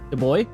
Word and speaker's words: Dubois: how do you say his last name yeah the boy yeah kevin see y'all later time for the